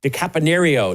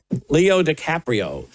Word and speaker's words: Leo DiCaprio: That was the movie called One Battle After and that was starring Leo DiCapanio. DiCaprio Leo DiCaprio. Is that how you say his name? Leo DiCaprio.